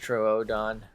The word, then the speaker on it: Troodon: an otter that's a true dawn you I still am baffled by I think someone who came to my chat and said it's pronounced Troodon there's no [ __